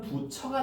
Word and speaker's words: 붙여: 나중에 단 모음하라 해 가지고 최종 발음은 부처가 되는 거예요.